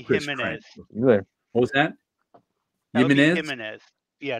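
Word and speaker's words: Jiménez: there what was thatz himz yeah not you don't pronounce the J sounds like it's like it's like haime Alberto gimenez Albuquerque and um it's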